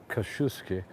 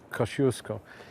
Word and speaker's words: Kościuszko: I'll tell you, one of my favorite stories as well about this square is Tadeusz Kościuszko, Kosciuszko, say it right, it's a bit cold, who